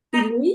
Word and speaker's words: Piluy: Piluy. Presente aquí. ¿Cómo se pronuncia tu segundo apellido?